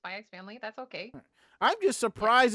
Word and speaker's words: Spy x Family: some people call it spyax family some people call us by family I pronounce this by X family that's okay I'm just